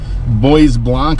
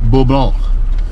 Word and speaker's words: Bois Blanc: to Bob Lowe island boys Blanc Island or bull ball depending on your pronunciation of French French name things the